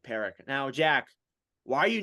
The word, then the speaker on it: Parekh: Parekh.